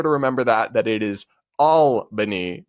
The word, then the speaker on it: Albany: Just want to let you know because I've heard you say this once before, but the capital of New York, Albany, is pronounced Albany.